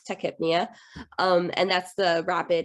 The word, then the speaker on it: tachypnea: want to call it i like to say the tachypenia just because it helps me spell it out and then i can recognize it but i know it's techhypnia um and that's the